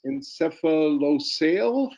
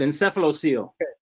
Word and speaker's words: encephalocele: help me uh pronounce i think it's encephalosale have i got that right uh that's quite good encephalocele okay can you tell